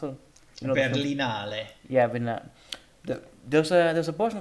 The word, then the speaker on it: Berlinale: Berliner, how do you pronounce it? You know, the film- Berlinale.